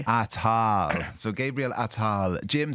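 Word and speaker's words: Attal: be repentant francophobia atal the two A's are pronounced ah like a atal so Gabriel atal Jim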